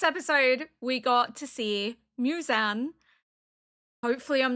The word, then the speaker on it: Muzan: to find one and it said Muzan like moo as in moo and then zan as like Muzan so I'm like hopefully that is correct. Last episode was incredibly interesting. We have met Muzan in person now and